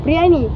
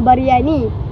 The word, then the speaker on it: briani: Dalam aspekologi pula, sebutan dan bahasa Melayu ialah periani bukan bariani. Huruf Y dalam bariani, huruf Y dalam bariani menambah bunyi tambahan yang tidak wujud dalam sebutan sebenar orang Melayu.